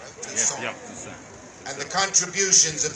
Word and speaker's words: Toussaint: Toussaint.